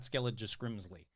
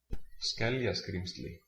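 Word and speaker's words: Skeljaskrímsli: Yeah, it's like, yeah, I don't know what you're trying to say, but it's not Skellijaskrimsli.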